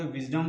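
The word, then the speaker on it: wisdom: spelling लिख लेते हैं विजडम में ध्यान देने वाली बात यह है कि एस को यहां ज पढ़ा जाता है तो दोस्तों इस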